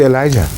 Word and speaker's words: Elijah: His name is be Elijah or Elia. This the two different pronunciations.